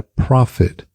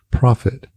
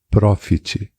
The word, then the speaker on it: profit: E a segunda palavra é profit, que é lucro, profit, profit, não profit, profit. Nota que o T no final quase desaparece.